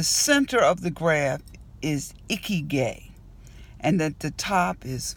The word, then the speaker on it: Ikigai: to you about something that I can't even pronounce this morning. It's called Ikigai. I-K-I-G-A. And I was scrolling through my Facebook timeline and somebody had this posted. Ikigai.